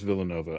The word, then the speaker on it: Villanova: Vill No, you are correct. It is Villanova. I've been saying Villan Noeva, but it's Villanova.